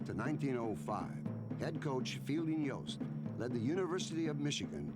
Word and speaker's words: Yost: Yost rhymes with boast, and that's what he liked to do.